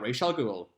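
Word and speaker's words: Ra's al Ghul: do a video about racial Google and yes that is the correct way to pronounce it I don't care what the movie says Deathstroke hired a hacker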